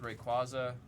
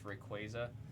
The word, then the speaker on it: Rayquaza: Like, I've always said Rayquaza. I've been told it's supposed to reference Quasar, so it's Rayquaza.